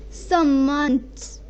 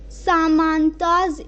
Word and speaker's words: samant: Like there, if we read, then literally it will be pronounced as Samants. Samantas, if we would read it, then it would be wrong. But it's Samants, not Samantas. So this is what we